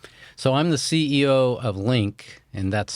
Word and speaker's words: Lynk: thanks Scott um so I'm the CEO of link and that's spelled l-y-n-k and those of you listening can